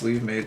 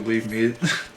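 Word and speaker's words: Levemete: I looked up how to pronounce this, it's actually Leave Meat. I think I used to call it a Leave Mate. Or like a leave matey or something.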